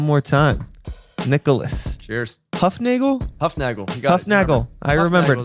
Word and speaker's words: Hufnagel: Hufnagel. You got Hufnagel. I remembered. That works. I get like Nagel. You get Hufnagel's the German pronunciation. You get like Huffennagel, Hufnagli.